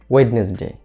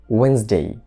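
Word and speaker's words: Wednesday: এটাকে আমরা বলি অনেক সময় ওয়েডনেসডে, ওয়েডনেসডে, কিন্তু আমরা ওয়েডনেসডে না বলে এখন থেকে বলবো ওয়েন্সডে, ওয়েন্সডে, ওয়েন্সডে, ওয়েন্সডে।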